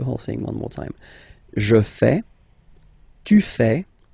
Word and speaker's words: fais: Remember, final S not pronounced. Je fais.